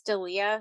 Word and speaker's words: D'Elia: Well, and is it Chris D'Elia?